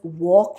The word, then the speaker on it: walk: well k is silent l is silent in the words walk and calm w in the words